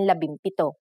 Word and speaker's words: labimpito: If a P follows the NG connector, the NG becomes an M, just like in labimpito.